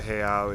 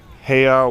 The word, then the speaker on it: heiau: So I'm just going to give you a little panorama of Kane'ilio Point, which is where the heiau is located.